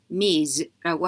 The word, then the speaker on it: Ms.: 자, 이 단어 솔직히 단어라고 하기도 뭐하지만 Mr. 같이 사람 앞에 붙는 기혼자와 미혼자 구분하지 않고 이야기하는 Ms라고 하는 겁니다. 그래서 읽을 때 Ms라고 읽어야 되는 거 기억해 주시면 좋고요.